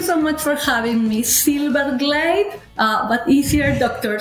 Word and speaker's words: Zylberglait: welcome thank you so much for having me Silver Glade uh but if you're Dr C or